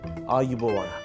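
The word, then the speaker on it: ආයුබෝවන්: Ayubowan.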